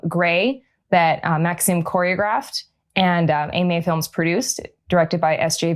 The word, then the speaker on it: Aimer: So at Cascadia 2017, I was thrilled to see multiple submissions come in from AMA Films.